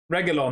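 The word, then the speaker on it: Reguilón: Reguilon, sorry. Reguilon, that's how you say his name.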